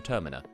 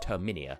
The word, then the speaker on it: Termina: is somewhat based on termina and not as some people call it terminia like if you pronounce it that way you are just canonically wrong and you need to live with that and i know that